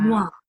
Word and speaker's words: noir: How do you pronounce it? Noir. Noir.